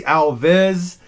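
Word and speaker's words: Alviz: name's not alan by the way it's actually alvez a-l-v-i-z is actually how you spell my name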